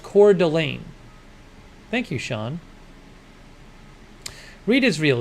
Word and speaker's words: Coeur d'Alene: Sean says it's pronounced Coeur d'Alene.